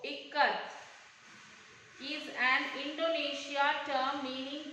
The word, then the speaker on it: ikat: Janaki teacher said it is pronounced I as it, I Kamala and T as th in both. Ikat is an Indonesia term meaning to bind.